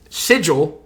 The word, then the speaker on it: sigil: poke funny about it pronounces the word sigil and he calls it signal at times and it's so this